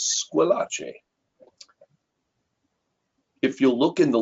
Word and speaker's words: Squillace: Growing up, I went by the last name Squillace, although it is actually an Italian name and properly pronounced as Squillace.